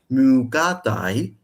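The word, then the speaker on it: μυκᾶται: But in ancient Greek, the ox mukatai and the goat mekatai.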